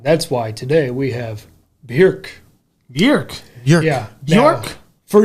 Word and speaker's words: Björk: So if you want to say Bjork, that's fine.